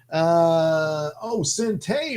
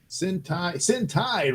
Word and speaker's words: Sentai: Sente Ranger. Good Lord, I'm screwing up all over the place. Sentai Ranger Donnie. The second syllable of the Japanese word for squadron rhymes with pie.